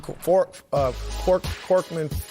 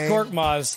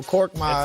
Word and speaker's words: Korkmaz: And then Korkman, however you pronounce his name. It's Korkmaz. There you go, Korkmaz.